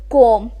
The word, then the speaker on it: qualm: So the ninth uncommon and unique word which we're going to learn today is qualm. Q-U-A-L-M. Now you need to take notice that L is silent in the pronunciation of this word.